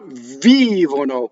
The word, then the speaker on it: vivono: The accent is on the second to last syllable. Vivono. I mean, it's not the second to last. It's the antepenultimate, the one before the second to last. Vivono.